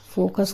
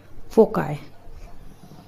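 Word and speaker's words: foci: इसको ध्यान रखिएगा और इसका प्रोनाउंसिएशन इसको फोकी ना प्रोनाउंस करें सही प्रोनाउंसिएशन है फोकाय the diagnosis was difficult to make without further testis.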